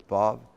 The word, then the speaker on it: vav: Hey wasn't as much, but aleph, ayin, yod, vav, especially vav. And of course, the ancient or traditional pronunciation of the vav was a W sound. Wah. It's now modernized. The way it's used classically now is va.